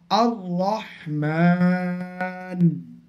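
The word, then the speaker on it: الرحمن: জবর আর র জবর র র এর উপর তাশদি আছে র মুশাদ্দাদ আছে কিন্তু র এর উপরে জবার আছে র জবার থাকার ফলে র টা পুর হবে পুর মানে মোটা হবে তাহলে এখানে কি উচ্চারণ হবে আর রহমান আর রহমান যেমন সূরা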